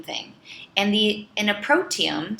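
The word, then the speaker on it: proteome: and the in a protium so it's kind of sounds like the word genome like the human genome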